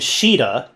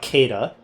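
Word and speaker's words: Caeda: I know about the major characters like uh Marth and Sheeta as I've learned her name is pronounced, not Kada.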